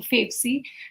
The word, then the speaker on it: Favcy: so yes you're right uh favy is the short form for favorite currency I always uh tell that to people because that helps them pronounce the word better so favorite currency that gets you favy and why we say